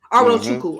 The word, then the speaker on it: Arochukwu: And how you say Awachuku? That's how you say it. Yep. Arochukwu.